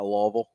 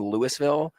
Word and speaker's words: Louisville: 25 minutes away so not super far is Louisville the correct pronunciation yes we pronounce our ass okay you're not you're not Kentucky you're not lawal yes exactly I I anytime I tell people I'm from Lewisville I immediately get oh Kentucky it's like no